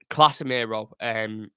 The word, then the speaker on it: Casemiro: I did pronounce it wrong there. Casemiro, excuse me, was just you look how he was on the ball, just absolute there, worlds apart.